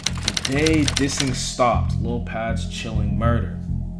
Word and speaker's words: Pab: day dissing stopped Lil pad's chilling murder I think it's pronounced pad yeah it's pad it's pad after the death of